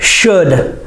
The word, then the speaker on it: should: Say it, should. S-H, sh, and the sound, and D, the L is silent.